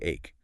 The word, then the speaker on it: ache: For stomach ache, headache, or backachche, the word ache, which means pain, almost always sounds like ache. Like the letter A followed by K.